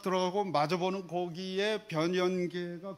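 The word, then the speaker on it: 변연계: 발음하기가 조금 까다로운데 혀가 짧으신 분들은 변현계 해 보세요.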